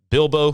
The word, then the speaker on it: Bilbo: Bilbo rhymes with dildo.